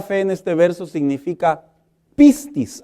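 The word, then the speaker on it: πίστις: La palabra fe en este verso significa pistis, así se pronuncia del griego, pero también significa pistín.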